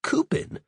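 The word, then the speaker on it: coupon: And my favorite is c o u p o n, pronounced like coupin, which means face.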